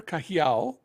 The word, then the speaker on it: Cajiao: on the radio sure it's kahiao and it's and then c a j i a o and originally my family